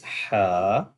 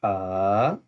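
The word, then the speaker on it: حاء: And the next one is Ha. That's called throatal letter, and we will pronounce from the middle throat. So Ha, Ha, Ha.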